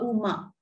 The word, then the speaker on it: om: your body etc now om has got three parts ah uma you know that so om actually has three parts you chant it as um but it's actually three syllables ah and ma so each of them